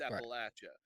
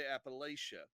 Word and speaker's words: Appalachia: kind of stereotypes then that's how it's said where we're from in the plateau virginia kentucky southwestern virginia kentucky west north carolina east tennessee up into up toward pennsylvania west virginia and stuff it's appalachia and north of the potomac they say appalachia now i'm going to tell you you're wrong if you grew up in pennsylvania and you're mountain folk and that's how you say it or ohio what's wrong